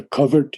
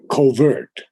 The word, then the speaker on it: covert: He grew one with a covert universe. Now, I always used to say covert, because that was the American pronunciation. But Temi said, no, it's covert. That's the correct English pronunciation.